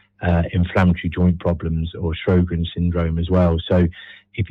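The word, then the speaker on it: Sjögren's: It's Sjogren's disease.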